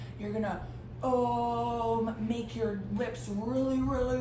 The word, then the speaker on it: Om: And it's spelled O-M. How do you think that sounds? Is it like Om? Or is it like Om? So we're gonna say Om.